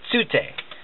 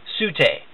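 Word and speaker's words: Tsu'tey: of the Omaticaya clan, she says Tsute, and Jake says Sute.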